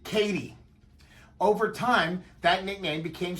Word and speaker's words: Katy: The railroad was commonly called the MKT, but everyone pronounced it Katy.